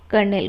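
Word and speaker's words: kernel: कर्नेल को। ठीक है, कर्नल बोलते हैं इसे, कर्नेल मैं प्रोनाउंसिएट कर रही हूँ ताकि आपको याद रहे।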